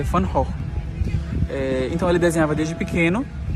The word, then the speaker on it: Van Gogh: Uma coisa interessante, a pronúncia de Van Gogh em holandês, na verdade, é Van Gogh.